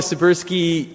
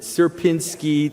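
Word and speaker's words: Sierpiński: Um uh so this is something called the suberski uh s how did you pronounce it? Serpinski triangle.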